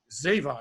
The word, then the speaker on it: Zevan: I like a lot mr. Brock Ziva of course not I've said that forever and I'm not sure if I'm pronouncing right if your last name right is that correct it is I think called many